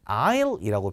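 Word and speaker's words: aisle: 나왔는데 원래 이런 통로들은 아이라고 표현을 했어요 제가 여기도 써 놨는데이 S 무음입니다 아이이 아니라 라 아 이렇게 발음을 하셔야 되거든요 얘가 원래는 넓은 통로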